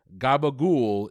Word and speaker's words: capicola: staple in mob movies gabagool is one pronunciation of capicola a type of italian